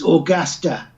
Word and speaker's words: Augusta: It's Augusta.